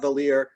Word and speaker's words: Vallier: In America, we say Vallier. Rhymes with queer.